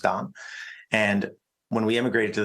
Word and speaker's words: Dan: My name is Hebrew, which is why it's spelled Dan, pronounced Don.